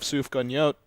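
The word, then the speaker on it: sufganiyot: i mean for hanukkah we'd have sufgo yolt like jelly donuts was that good yeah what's going on that's just how you say uh that's how you say it in hebrew it's just uh like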